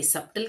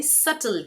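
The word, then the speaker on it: subtle: अगला शब्द है क्या इसे सबटल कहते हैं? नहीं। ये सबटल नहीं है। इसे सटल कहते हैं। यहां पे बी साइलेंट है। इसे कहते हैं सटल।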